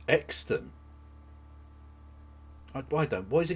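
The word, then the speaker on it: Euxton: Apparently Uxton is near Buckshaw.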